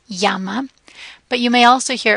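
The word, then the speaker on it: llama: sound is the a the Double L which is similar to the English y one important thing to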